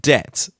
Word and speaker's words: debt: Technical debt. I'm the word debt with the silent B in it. I just can't. I have to say debt.